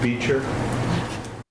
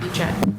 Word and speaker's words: Beecher: For the record, I think it's Keith Beecher. That's not the owner, What? not the owner. No, I know, but you've got his name in here, and it's spelled incorrectly. Why? I think. Beecher, yes, not Beechett.